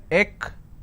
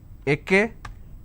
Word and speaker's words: extra: If I have to break it for your quick understanding, it's extra. It's extra. Now what mistake people do is they pronounce this as ekestra. So this is wrong. It's not ekestra, it's extra.